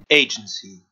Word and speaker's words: agency: Agency. Si vous avez placé l'accent en première syllabe dans agency, alors là vous avez tout bon.